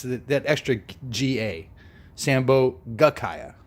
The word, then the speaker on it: sambhogakaya: just say kaya but it's sambhogakaya that's the correct pronunciation nobody got the no prize on that but I always abbreviate it when I say in English because it's just it's that extra GA sambhogakaya right but that's important I guess I guess